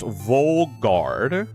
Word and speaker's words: Vaugarde: Vaugarde is pronounced Volgarde.